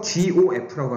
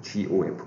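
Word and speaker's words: g∘f: 그래서 GOF라고 합니다. GOF. 뭐라고? GOF라고. 읽으셔야 돼요, 여러분이. GOF. 머릿속으로 읽고 있죠. GOF라고 읽어요.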